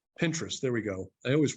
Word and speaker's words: Pinterest: San Francisco Liz Laura Waxman uh reported that pin interest is not going to renew a lease at 410 Townsend Street pin interest has a lot of or is it Pinterest I guess it's Pinterest Pinterest Pinterest there we go I always pronounce that incorrectly